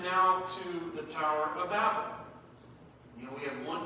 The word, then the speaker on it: Babel: I'm saying Babel. Some people say Babel, others say Babel. Babel rhyming with table, or Babel rhyming with gavel.